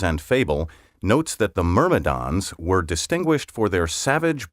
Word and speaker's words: myrmidon: seven word twenty one myrmidon m-y-r-m-i-d-o-n a loyal follower faithful servant or subordinate especially someone who is unquestioningly obedient myrmidon may also be pronounced myrmidon in ancient greek legend